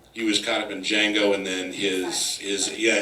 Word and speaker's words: Django: was caught up in Django and then his his yeah exactly nice the D is silent and then Sally miy